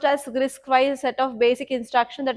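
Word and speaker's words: RISC-V: Yeah, it is RISC-4, pronounced as RISC-wise set of basic instructions that a processor understands.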